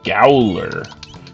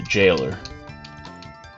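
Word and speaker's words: gaoler: say, "Oh, the the gowler, the galer." But, you know, it's supposed to be the jailer.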